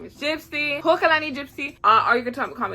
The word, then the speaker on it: Hokalani: My name is Hokalani Gypsy, pronounced Hokalani, but you can say Okalani. I don't really care.